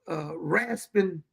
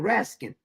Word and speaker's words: Raskin: Did you know that Representative Raspin, is that how you say his name? Raskin. See, keep saying Raspin.